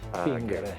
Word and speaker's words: fingere: del latino del I secolo a.C., in cui la G era solo una GH. Fingere.